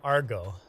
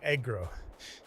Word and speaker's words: Agro: saying it wrong oh I'm saying Argo when I should be saying Agro it's dyslexic it's the same letters just in a different pattern my brain doesn't see